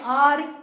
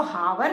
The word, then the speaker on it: hour: बट जब हम इसको प्रोनाउंस करते हैं तो हम इसको हावर नहीं बोलते, हम इसको क्या बोलते हैं, आर.